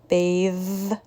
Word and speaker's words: bathe: clothes breath versus breathe the first word is voiceless bath cloth breath the second word is voiced bathe clothes breathe what do you think